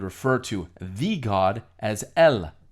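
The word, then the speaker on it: ال: In the Arabic language, however, the difference is made by using the definitive article the, pronounced in Arabic as el.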